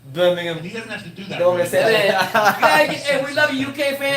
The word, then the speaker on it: Birmingham: England like to respons if I say Birmingham they're going to say no no it's not Birmingham it's Birmingham have to do that